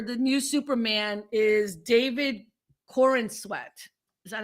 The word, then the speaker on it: Corenswet: So the new actor for the new Superman is David Corenswet.